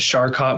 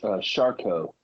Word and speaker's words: Charcot: it right is it shot Marie tooth disease is that how you pronounce it a close shco it's named after a french guy that discovered it so okay so shco